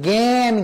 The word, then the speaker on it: জ্ঞান: অর্থাৎ কোন পরিবর্তন হয়নি আর জ্ঞান বলার সময় গান বলি নাই বলেছি জ্ঞান জ্ঞ উচ্চারণ হয়েছে অর্থাৎ আবর্ণটি দুই ধরনের